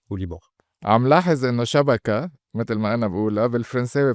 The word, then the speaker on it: شبكة: عم لاحظ إنه شبكة متل ما أنا باقولها بالفرنساوي بتطلع شبكة متل ما اللبنانية بيقولوها.